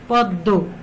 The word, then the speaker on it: পদ্ম: দয়ের উচ্চারণ দুইবার হয়েছে, যেমন পদ্ম দটা দুইবার হয়েছে।